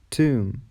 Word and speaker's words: tomb: B is silent before T and after M. For example, debt, doubt, saddle, dumb, tomb, comb.